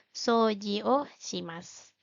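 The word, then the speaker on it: そうじします: u di mana ee ketika dua huruf vokal berdampingan maka dibacanya agak panjang di sini ada O dan u jadi Yang disuarakan hanya bunyi o-nya kemudian agak panjang bacanya jadi so Jio o shimas lalu yang kedua ada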